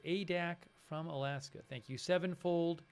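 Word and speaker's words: Adak: And Nick Klein, who says it's pronounced ADAC from Alaska.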